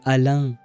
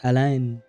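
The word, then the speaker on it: Alain: Uh the the N at the end is silent. So, it would be alan. It's not align.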